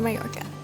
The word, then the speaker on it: Mallorca: Pronounced Mallorca.